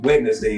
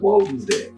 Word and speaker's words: Wednesday: finally figured out what wedness day is not pronounced wedness day anymore where that spelling came from that's wen's day so anyway hope you got a little something